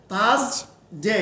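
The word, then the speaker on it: Thursday: তাহলে উচ্চারণ কি হচ্ছে থাস ডে এই যে ডি এ ওয়াই কি উচ্চারণ ডে তাহলে কি উচ্চারণ হচ্ছে থার্সডে থাস ডে জ উচ্চারণ থাস করলে করা যাবে না স সাউন্ড উচ্চারণ জ sound থাস থাস ডে ডে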